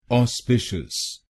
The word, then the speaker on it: auspicious: तो बनेगा ऑस्पिशियस। ऑस्पिशियस। ऑस्पिशियस। ऑस्पिशियस। ऑस्पिशियस। और आपको दूसरे शब्दांश पर यानी SPIC पर जोर डालना है।